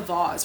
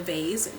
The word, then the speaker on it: vase: Think about it like a vase or like a vase. Some people pronounce it vase, right?